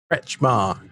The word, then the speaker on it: Kretzschmar: Kretzschmar. Yeah, two syllables.